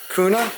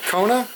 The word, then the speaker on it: Kona: you get Robin no Robin got it's by Kuna Kona comment that's how you say it Mike kkona